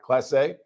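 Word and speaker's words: Clase: How do you pronounce his last name? Class A, yeah. Class A.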